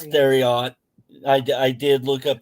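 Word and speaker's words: Thieriot: Max the theot theot theot it's it's it's theot I I did look up the pronunciation for it um there was a few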